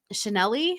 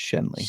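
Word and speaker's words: Schenley: In 1929, it was then purchased by the um Chanel Chanel Distillers Corporation. Shenley. Shenley. Shenley. I think it's Shenley. Shen. Yeah. No, it's Shenley.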